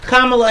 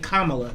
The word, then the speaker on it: Kamala: talking about kamala harris remember i said kamala not kamala yesterday i had an indian guy get on my facebook page and correct me said y'all been saying her name wrong forever we finally won she says kamala too your mama named jacob